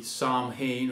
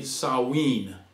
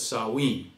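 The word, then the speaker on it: Samhain: i n and you think it would be Sam Han or S Hine but it's actually saen so we're going to pronounce it correctly and call it the way the way that it is sawe well they had this one on November 1st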